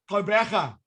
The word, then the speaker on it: Quebecer: How do you say it? Quebecer.